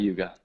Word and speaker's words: Yuga: second AG is dapar Yuga I'll write that down and that is the um Bronze Age and so um Satya Yuga or yug it's actually it's actually pronounced yug um and then yeah